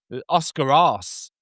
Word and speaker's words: Oscar Arce: A couple of years later, we had Oscar Arce, the Argentinian scout, which I'm faithfully told by my Argentinian colleagues that is how it's pronounced.